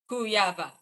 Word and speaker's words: Kujawa: Kujawa. Okay, doctor, I'm horrible at pronouncing.